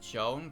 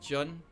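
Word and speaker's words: Jo'on: supposed to be pronounced Joan cuz there's supposed to be an uh an apostrophe between the O's, but that's never really highlighted.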